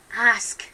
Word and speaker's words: ask: your cheeks okay um ask ok so Hema and this were just driving me mad I always mispronounce the word ask ask ask ok so ass ask mouth open tongue at the front ask ask will go